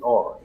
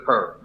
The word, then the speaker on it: PER: All right, AD right now is number one in PER, aka per. Don't Easy. say it like that, bro. It's an abbreviation, man. PER. Grown men is not supposed to say per.